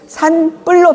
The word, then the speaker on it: 산불: 어 예를 들면 산불 표기대로 읽으면은 산불이죠. 근데 이걸 우리는 산뿔로 발음하죠. 발달이 아니고 발 딸로 발음하죠.